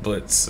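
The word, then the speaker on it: Blitzø: it right sure blitzo the O is silent now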